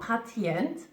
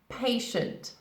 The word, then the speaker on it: patient: patient patient pay should it's not patent no patient patient now he's somebody's patient